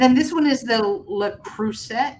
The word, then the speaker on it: Le Creuset: And then the other one is Le Cruist. How do you say that? That makes the fancy cookware. Oh, the Le Creuset.